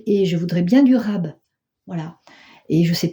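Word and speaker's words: רב: Et c'est facile à retenir comment ça s'écrit abondance, comment ça se dit abondance en hébreu, parce que ça se dit rab, comme quand on en veut un peu plus.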